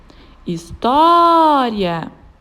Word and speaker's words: história: História. A sílaba tônica da palavra história é o tó, e ela está na penúltima sílaba da palavra.